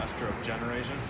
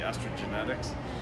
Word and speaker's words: Estrogeneration: And that's the big problem, Estrogeneration. A lot of people mispronounce the book title because they say estrogenetics or something about genetics, but which is also fine, right?